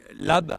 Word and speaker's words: Labesse: Et vous, vous êtes donc Labesse, vous êtes le directeur marketing et communi Lab, on prononce pas le S.